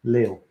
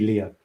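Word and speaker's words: Léo: Yeah, this is Sybil and this is Leo, my son, Leo, with an accent on the E. You see, otherwise it would be Leo.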